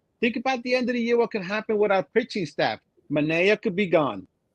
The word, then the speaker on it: Manaea: Manaea. Manaea Mays? Manaea.